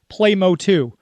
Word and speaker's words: PlayMOTU: And you said it's just Playmo2 is how you're pronouncing it. Yep. So it's funny because from what I'm hearing, the community, the way they pronounce it, it's Mo2.